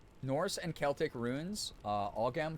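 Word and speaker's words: Ogham: Uh, Agam pronounced more like Oh, M in modern Irish.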